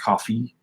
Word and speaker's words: Ko-fi: I don't think it's Ko-fi. I think it's pronounced coffee, because it's got like the little coffee thing with a heart in it.